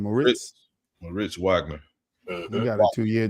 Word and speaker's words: Moritz Wagner: Moritz Wagner.